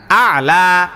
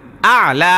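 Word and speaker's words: الأعلى: আলা সুবহানা রব্বিয়াল আলা না না আলা আলা বলেন না না শোনেন আপনি বুঝেন হামজায় যাইয়া কারে ধরছে?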